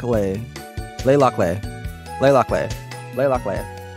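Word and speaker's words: Le Locle: my room and get my stuff together it's pronounced uh lay Locale wait lay Locke lay lock lay lock lay lock layer thank you I'll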